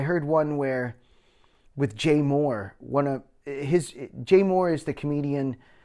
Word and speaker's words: Mohr: And I heard one where with Jay Moore.